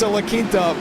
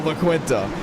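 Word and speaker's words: La Quinta: went to a laint it's a linta but for the ones that know it is now LaQuinta and it's not my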